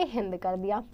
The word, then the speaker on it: हिंदू: नाम को मॉडिफाई करके हिंद। इट was because of the river Sindhu. River Sindhu की वजह से हुआ था बच्चों ये। Now Sanskrit word Sindhu was pronounced हिंदू in Persian.